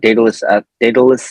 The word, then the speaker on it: Daidalos: I have a business for strength conditioning called Daidalos Athletics. Whitney, you said it right, so don't worry about it. It's spelled differently than how it's supposed to be phonetically spoken, so we can get into that later too.